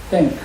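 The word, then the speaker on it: thank: 줘요 t 뭐야 땡크 땡크 감사지 이걸 그냥 땡크 그러면 전쟁에서 쓰면 탱크가 돼요 그냥 t 그러면 그러니까 발음할 때는이 이빨 위에 이빨 이와 아래 사이에다 혓바닥을 잠깐 넣다 빼면서 해야 그면 전 쓰 누구한테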